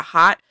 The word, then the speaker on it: haute: podcast so on Instagram it's the hot guy podcast and heart is spelled h-a-u-t-e okay but for me as